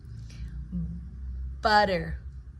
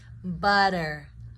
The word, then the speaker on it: butter: Butter. I know this one's spelled with a T, but the pronunciation with the flap T is the T turns into a D to lessen the the